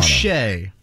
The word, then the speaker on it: Boucher: Your guy, Chris, how do you say his last name in Toronto? Boucher. Bobby Boucher, right?